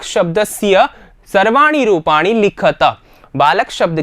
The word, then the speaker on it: बालकैः: यहां पर ध्यान रखना विद्यार्थियों, बालकैः उच्चारण सही करना है। कभी कभी बच्चे क्या करते हैं, जल्दीबाजी में देखते नहीं हैं और आप क्या कर बैठते हैं, इसको पढ़ लेते हैं क्या, बालके।